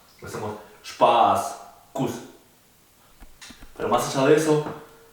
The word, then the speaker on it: Kuss: Por ejemplo, si yo escribo la palabra Spaß, que significa diversión, se pronuncia Spaß. Wir haben Spaß. Nosotros nos estamos divirtiendo, tenemos diversión. En cambio, si escribo Kuss, que significa beso, la U es corta, no es larga como la A de Spaß.